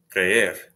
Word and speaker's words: creer: Creer, creer, E and R are separate syllables.